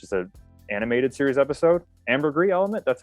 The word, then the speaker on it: ambergris: ambergris element which is a animated series episode ambergris element that's how you pronounce it it's the one where kirk and